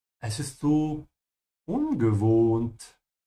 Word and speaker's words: ungewohnt: Es ist so ungewohnt. It's so unfamiliar or unusual. Ungewohnt. The O here is a bit longer because there's an H after it.